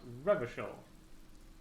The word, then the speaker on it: Revachol: Rochelle's pronounced Revachol.